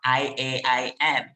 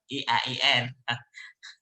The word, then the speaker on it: IAIN: say eiem perfectly not iain so i i believe to harim uh reminded uh rachel many times about the pronunciation they are not i a i n but e i e n that's great you know